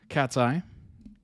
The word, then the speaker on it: Katseye: Cat's Eye, pronounced Cat's Eye, is a girl group based in LA, California.